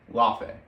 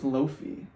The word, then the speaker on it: Laufey: Laufey. I think it's Lofi, because they said it's spelled like it's Laofey. Just Faye.